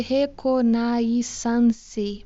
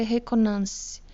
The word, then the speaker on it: reconnaissance: Se escreve reconnaissance, mas eu acredito que se lê reconnaissance.